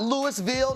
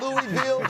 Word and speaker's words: Louisville: Shout out to the University of Louisville. Not Louisville, not Louisville. All of you who don't know how to pronounce stuff the right damn way. It's Louisville, okay?